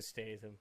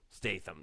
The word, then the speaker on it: Statham: awesome Jason Statham Statham that's how you say it who doesn't ever play